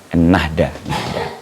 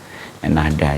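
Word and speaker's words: Ennahda: khawatir salah baca loh nnada bacanya gimana sih nnada n Nahda n Nahda ya en Nahda jadi eh berubah nama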